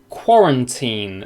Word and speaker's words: quarantine: Just to describe, you've got qua is the first syllable, qua, run, so it's a schwa.